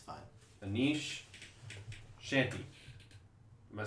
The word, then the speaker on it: Chaganty: Anish Shanti. Am I saying that right, sir? I can't really see it. I think it's CH. It's spelled A-G. Chaganty.